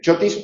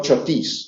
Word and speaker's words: chotis: Entonces, el chotis o chotis, que de las dos maneras se puede.